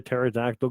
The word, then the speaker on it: pterodactyl: can't you hear a pterodactyl go to the washroom he wanted to wing it close because the P is silent I like I think